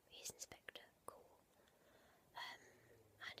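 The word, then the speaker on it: Goole: sure it's Inspector Cool, which I think is intentional because it sounds a bit like a ghost. Cool is spelled two different ways, cool as in ghost, and in this sense is cool.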